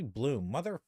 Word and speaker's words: Blum: Blum uh would or I keep saying Blum. It's supposed to be Bloom, Cuz his his name like is it's like Blu M.